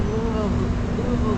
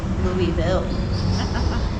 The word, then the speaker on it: Louisville: And the way you get this pronunciation, I tell people you gotta say it kind of like you have a mouthful of marshmallows and you're trying to swallow them about halfway through.